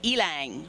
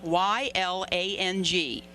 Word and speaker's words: ylang: I even had to look it up to find out how to pronounce it. It's ylang, Y-L-A-N-G, ylang.